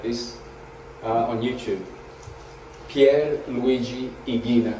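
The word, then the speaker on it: Ighina: The Italian genius Pier Luigi Igina, he said that in the centre of the sun is a heart that beats at the same rate as our heart.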